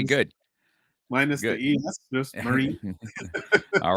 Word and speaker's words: Marin: this is and your last name is pronounced marin is that correct or there's there's there's so many variations uh i i usually like to go with the route of marine marine like a marine marine yeah okay got